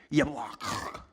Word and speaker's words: Jabbok: So before Jacob got alone with God, he and his entire family had to cross over the river Jabbok, or in Hebrew, Yablak.